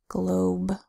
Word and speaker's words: globe: sound good oh oh but we don't pronounce the e say it together fast globe and last set of